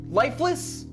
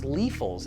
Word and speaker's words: Liefels: Lifeless? Seriously? It's pronounced Liefels, and yeah, he was our family doctor.